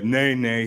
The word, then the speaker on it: Nana: And the interesting thing is, the title Nana, we say Nene here. And that was from the time I was born, that's what I was called, Nene, spelled the same, pronounced differently.